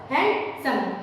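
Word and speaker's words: handsome: इस कि हम देखेंगे ग्रैंड मा ग्रैंडपा और हैंडसम तो यहां पर डी साइलेंट है तो इस प्रकार से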